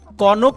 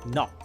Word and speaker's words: knock: আবার একইভাবে দেখেন, কনক না হয়ে যাবে নক, নক।